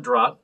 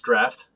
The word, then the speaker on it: draught: uh guinness draft uh it's not drop it's draft that's what it's pronounced um yeah this uh